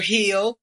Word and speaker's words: Hill: I said Dr. Hill, and the B is silent.